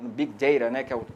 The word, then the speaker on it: big data: a conteúdos alavancando fundamentalmente pelo big data ou pelo biqueira a pronúncia certa inglês ou pela cloud computing